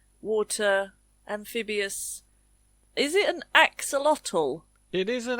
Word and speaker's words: axolotl: My favourite part is the ending. Lotl. Axolotl.